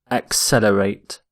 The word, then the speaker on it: accelerate: first word is accelerate accelerate notice the pronunciation of accelerate X accelerate accelerate if something accelerates it